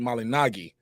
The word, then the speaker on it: Malignaggi: about this Paulie malignagi I think he pronounced it the proper way Paulie malinagi but I think he just